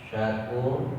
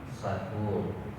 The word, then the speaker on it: Asy-Syakur: Asy-Syakur pakai huruf syin, jangan dibaca pakai huruf sin. Kalau untuk syin itu ada titik 3, pengucapannya jadi tengah-tengah lidah, tengah-tengah lidah. Sementara kalau sin itu ujung lidah nanti menempati di ujung sirih gigi yang bawah. Mempunyai makna yang sangat jauh berbeda. Syakur dengan sakur.